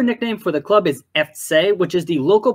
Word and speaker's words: Effzeh: the second syllable but in Cologne they put the emphasis on the first syllable it is a subtle